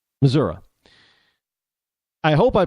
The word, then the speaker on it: Missouri: uh in in Missouri how I understand they pronounce Missouri it's not Missouri there's no a at the end it's an I but Missoura I hope I pronounce